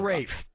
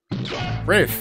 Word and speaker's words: Ralph: easy yeah ray finds first name is spelled like Ralph but pronounced yeah Rafe Rafe yeah it is brother